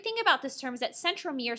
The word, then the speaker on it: centromere: about this terms that centromere sounds like the word center so if you even want it to say center mirror to help you remember that would be great